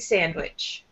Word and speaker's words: sandwich: Let's say a lemonade sandwich. A lemonade sandwich. Mm-hmm. And then sandwich will also have the first syllable a little bit stronger. Lemonade sandwich.